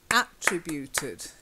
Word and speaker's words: attributed: Three syllables we stress in the three and a P.